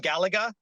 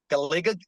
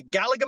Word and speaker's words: Galaga: arcade machine uh I'm a huge fan of Galaga I have a Galaga tattoo our mural artist to Galaga the reason why it's Galaga or some people pronounce it like galiga G galiga or something like that some weird